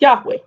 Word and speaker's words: Yahweh: That would be pronounced Yahweh.